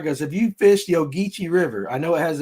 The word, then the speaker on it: Ogeechee: Ogeechee, yeah.